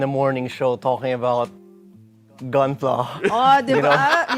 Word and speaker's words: Gunpla: Is it Gunpla or Gunplay? It's Gunpla, short Gunpla. for Gundam plastic model.